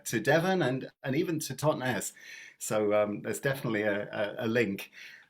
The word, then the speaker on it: Totnes: Phil, you are up, and tell me how you pronounce it. Tell us a little bit about your song. Yeah, it's just Totnes, which is a small town in Devon in the UK.